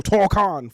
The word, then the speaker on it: Tokon: So, I bought Marvel Tocon Fighting Souls. I got to say it like that cuz that's how they say it.